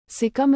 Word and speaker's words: Sikkim: sikim sikim skm sikim Nepali pronunciation sikam is a state in